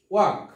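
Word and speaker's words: walk: তারপর হচ্ছে ওয়াক, ওয়াক শব্দের অর্থ হচ্ছে হাঁটা, ওয়াক, এখানেও কিন্তু এল লেটারটি সাইলেন্ট, ওয়াক, হাঁটা।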